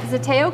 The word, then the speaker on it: Zeteo: is here on facebook so we are here at zatteo coffee i am pronouncing that correct all right perfect that's what does the tail